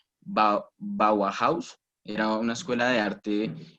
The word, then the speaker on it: Bauhaus: el primer semestre que la pronunciación de la escuela bauhaus tal como como se escribe así se dice bauhaus listo bueno era una